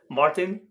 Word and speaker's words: Martin: Do you prefer Martin or Martin? In English, more often Martin because people understand it better. But you can Alright. say it the French way.